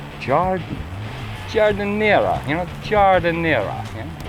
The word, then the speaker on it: giardiniera: I kept calling it Giardiniera. And although nobody corrected me on it, I think the pronunciation is Giardiniera. Giardiniera.